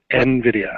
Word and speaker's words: Nvidia: it's it's pretty cool but Nvidia if it ever comes up is NVIDIA one word it's kind of strangely pronounced Nvidia and and you're not